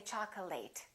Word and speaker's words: chocolate: a very common mistake chocolate a lot of my students say chocolate it's chocolate because it's a noun accurate affectionate intimate all